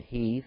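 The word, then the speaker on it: Heth: and the children of f answered Abraham some call it Heath or F I'm pronounced with the H silent sing unto him hear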